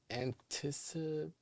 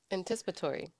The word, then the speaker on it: anticipatory: I believe it's anticip. Anticipatory.